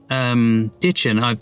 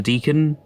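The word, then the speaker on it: Dichen: I'll have to play you this clip, but apparently Ditchin, it's so difficult because I'm so used to calling a Deacon Logman, or Dickon Logman, but I wasn't entirely sure how to pronounce it.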